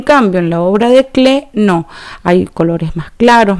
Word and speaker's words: Klee: Acá tenemos otra obra de Paul Klee, se llama, no se dice Klee, sino que se dice Klee, porque no es inglés este apellido, en el